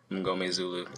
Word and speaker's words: Mngomezulu: It's kind of how it's spelled too. Oh yeah, exactly. I think that M-N-G throws people off because then after that it's pretty simple. It's like M-N.